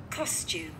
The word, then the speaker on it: costume: Các bạn lên giọng ở âm số 1 và xuống giọng ở âm số 2 đúng không ạ?